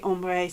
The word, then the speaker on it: ombre: it means shadow, and I will always say ombre. So just a little background why I say it that way when I know most people don't. The French in me just can't pronounce it any other way.